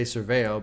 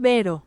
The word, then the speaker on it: Cerbero: How do you pronounce it? Cerbero. Oh, Christ. I was way off.